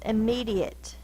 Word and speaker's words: immediate: a silent E immediate me is the stressed syllable immediate so this is the stress I me is the syllable